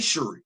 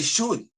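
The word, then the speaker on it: Shuri: And you see how I pronounce her name. I don't say Shy. I say Shorty. That's the correct pronunciation pronunciation of her name. It ain't shi.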